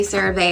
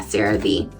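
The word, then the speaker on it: CeraVe: Sarave or is it Sarah Ve? I think it's Sarah. Yeah, cuz I always say Sarave. I always say it wrong. Yeah, Sarah Vee.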